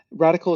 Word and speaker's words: Radicle: that's been done before radical is spelled r-i-d-i-c-l-e kind of like particle and that spelling of